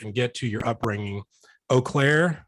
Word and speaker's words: Eau Claire: Eau Claire, am I pronouncing your hometown correctly? Yes, Eau Claire, Wisconsin.